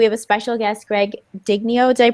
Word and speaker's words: Digneo: and today we have a special guest, Greg Digneo. Did I pronounce that right? Digneo, but yeah, close enough.